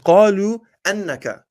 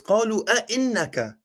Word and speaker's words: أئنك: Okay, you said, let's see, you said قالوا أنك. It's قالوا أئنك.